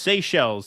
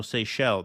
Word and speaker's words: Seychelles: It's French. It's French. So that makes sense because C-H-E-L, so Seychelles.